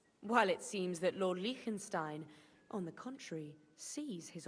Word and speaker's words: Liechtenstein: Liechtenstein, that's how it's pronounced.